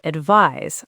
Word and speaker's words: advise: Advise sounds like advise with a Z sound.